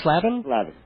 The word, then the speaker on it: Slavin: also he and his writing partner um David slavin is it's pronounced slavin I've been slaming away mispronouncing it all this